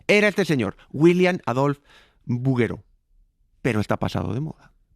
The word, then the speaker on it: Bouguereau: La lección hoy es buguero porque se pronuncia así a pesar de que se escribe en francés.